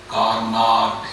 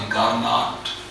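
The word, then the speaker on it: Carnot: Topic है कार्नाट engine. लिखना थी कार्नाट, यानी कि प्रोनाउंस कार्ना है, कार्ना है इंजन।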